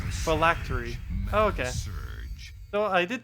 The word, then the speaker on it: phylactery: It could be like a 2-syllable word and I'll somehow do like 4 or 5 syllables. Am I saying it that wrong? Phylactery.